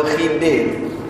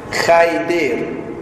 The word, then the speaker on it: Khidir: Ustaz cucu saya, saya bagi nama Khidir, Khaidir. Ada kawan saya Ustaz nama dia Khaidir. Tapi macam mana? Tak apalah, taklah jadi berdosa. Cuma pronunciation tu tak berapa tepat sikit.